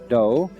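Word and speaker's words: dō: The word judo is fascinating because it means what does it mean the gentle do way do is the Japanese way of pronouncing the Chinese dao and so it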